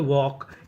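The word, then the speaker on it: walk: जैसे डब्ल्यू एल के इसे पढ़ते हैं वॉक। यहां पे एल हमारा साइलेंट रहता है।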